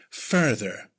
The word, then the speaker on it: further: Further. First syllable is emphasized, the sound, further.